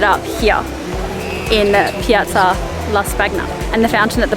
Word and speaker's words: Piazza di Spagna: Stace has just suggested that maybe it is pronounced Piazza di Spagna, not Spagna, and that is my real Australian accent coming out there.